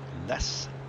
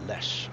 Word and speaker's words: Les: The west island is called Les, L-E-S, or maybe pronounced Lesh, I think.